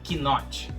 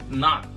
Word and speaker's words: knot: A gente não pronuncia o K. Não é knot, é knot.